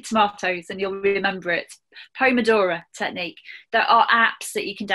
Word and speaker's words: Pomodoro: the, is it the Pulmandora technique or repeat Pulmandora technique? Yeah, the Pomodoro technique. Ah. So it's a P-O-M-O, Pomodora. Pomodoro. It's spelt completely different to how you would expect it to be.